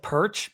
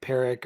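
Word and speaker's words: Perich: and that name koi it looks like perch but I did hear it's pronounced like peric or it's per I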